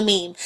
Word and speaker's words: meme: like it just feels right when you say mimi and i'm like no it's a meme and it's pronounced jiff i'm very i'm very snooty to